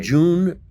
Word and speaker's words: Jhun: Jun.